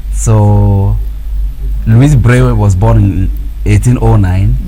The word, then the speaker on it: Louis: We call it Louis in English, but the French call it Louis. Okay. Because in French, the last consonants are silent except followed with the vowel.